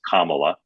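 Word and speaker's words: Kamala: polite and non-confrontational way I'll remind you her name is pronounced kamla sorry sorry that's all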